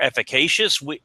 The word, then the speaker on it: efficacious: And those are the organizations that when they get that message out that we are more efficacious, I'm sorry, that's a big word. Efficacious. Four syllables.